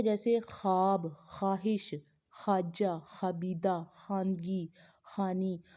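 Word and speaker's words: ख़्वाब: यानी कि यहाँ पर वाव लिखने में तो आ रहा है लेकिन वाव पढ़ने में नहीं आ रहा। मसलन ख्वाब, ख्वाहिश, ख्वाजा, खबीदा, खानगी, खानी, खार वगैरह, ये क्या है।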